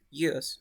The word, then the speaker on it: use: Use, right? Use. Yeah, but remember that we say use is like z.